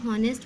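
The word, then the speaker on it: honest: Raman ऑनेस्ट बच्चे को ऑनेस्ट पढ़ने हैं ऐसे इसमें साइलेंट होता है उससे पढ़ा जाता है ऑनेस्ट यू ट्राई तू ड्रा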